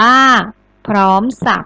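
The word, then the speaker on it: พร้อมสรรพ: หัว ข้อ ที่ 5 พร้อม สรรพ อ่าน ว่า พร้อม สัก ก็ อ่า ต่อ มา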